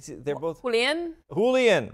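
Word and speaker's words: Julián: Julian, right? So you don't pronounce the J in either case.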